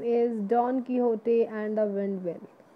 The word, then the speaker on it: Don Quixote: The first chapter name is Don Quixote and the Windmill. How will we pronounce this word?